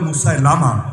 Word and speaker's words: মুসাইলিমা: একজনের নাম আসওয়াদ আনাসি, আর একজনের নাম মুসাইলিমা, যদিও অনেকে বলে মুসাইলামা, শুদ্ধ উচ্চারণ মুসাইলিমা কাযযাব।